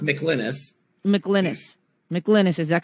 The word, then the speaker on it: McLynas: okay now we have michelanis and i hope i'm pronouncing that correctly for pinellas county sheriff he's